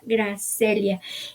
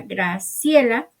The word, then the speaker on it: Gracelia: No, ella se llama Gracelia y ahorita les voy a decir por qué. Ale y yo pensábamos que era Graciela.